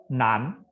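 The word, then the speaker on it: 男: Nan, sini bacanya perhatikan ya, ne an nan. Nan, ada kedua. Nan, ya, jangan baca nan, tapi nan. Nan, ya, nan artinya laki-laki atau cowok.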